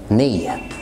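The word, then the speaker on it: knee: الكي قبل الان، زي ني ني ني. نايف نايف. نوك نوك.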